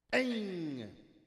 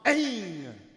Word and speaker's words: Aing: It is spelled A-I-N-G with a dot on top. Aing.